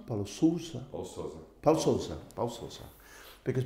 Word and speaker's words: Paulo Sousa: Today I'm with a great of European football, Paulo Sousa. Help me with the Portuguese, Paulo. Paulo Sousa? Paulo Sousa? Paulo Sousa.